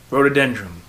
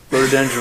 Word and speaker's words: rhododendron: There's an H in there somewhere. Oh, you looked that up. It's a silent H.